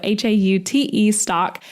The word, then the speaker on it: Haute stock: So spelled like haute couture, but pronounced hot. So Haute stock.